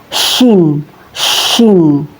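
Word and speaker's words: شين: Huruf syin ini keluar dari tengah lidah, tepatnya dari tengah-tengah lidah dan menempel dengan langit-langit mulut di atasnya. Syin syin. Ya, Teman-teman, cara melafalkannya seperti mengusir ayam syin syin ya.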